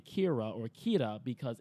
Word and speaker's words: Kira: don't need it doesn't it is literally just how they would pronounce the word killer that's how it's explained in the book and in anime their accent comes out Keita because there are no letter ELLs in Japanese interesting all their elves